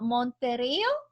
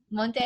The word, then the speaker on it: Monteiro: This kind of like shocked me because this young lady, Adelita Monterio, did I pronounce that right? Monteiro.